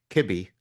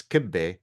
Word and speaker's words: Kibbe: guest for you today I've got Matt Kibby I thought it was kibbe it's spelled k i BBE kibbe is a very famous Arabic dish but Matt assured me that he's not Lebanese or Arabic Matt used to be